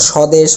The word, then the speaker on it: স্বদেশ: কোন উচ্চারণ হয় না যেমন স্বদেশ ব এর কোন উচ্চারণ নেই ধ্বনি জ্বালানী অর্থাৎ শুরুতে